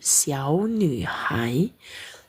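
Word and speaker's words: 小女孩: Nah, bisa ya bedain siu ni hai. Sia hong mau. Nah, karena nada ketiga bertemu nada tiga di sini bacanya nada kedua.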